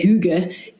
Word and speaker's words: hygge: there, all these family values around, if you can say hygge, like this term, which is spelled Hygge, but it's the idea of cozy